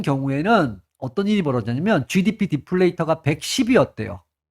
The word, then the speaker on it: 디플레이터: 어, GDP 디플레이터. 데플레이터라고 발음할 뻔했네.